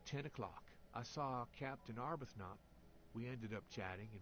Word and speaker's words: Arbuthnot: Arbuthnot. We're never pronouncing the H at this point.